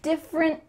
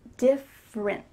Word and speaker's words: different: You're going to say different, but you don't let that little final puff of air come out. So we need to say different. Your tongue is stopped at the top of your mouth.